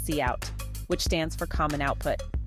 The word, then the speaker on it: cout: stands for common input and one for cot pronounced cout which stands for common output to use sin